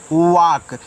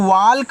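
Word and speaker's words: walk: इसको पढ़ते हैं वाक। देखो इसको वाल्क नहीं पढ़ना है। इसको वाक पढ़ना है। इस तरीके से वाक यहां पे आपका एल साइलेंट रहेगा।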